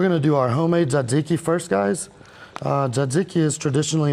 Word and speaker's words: tzatziki: We're going to do our homemade tzatziki first, guys.